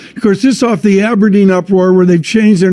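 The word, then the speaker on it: abrdn: plc except it's about a b r d n the new name pronounced aberdeen helpful will be of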